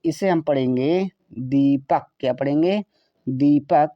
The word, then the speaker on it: दीपक: तो इसे हम पढ़ेंगे दीपक। क्या पढ़ेंगे? दीपक। डी से द, E का मतलब बड़ी की मात्रा, पी का मतलब पा, ए साइलेंट रहेगा, के का मतलब का हुआ दीपक।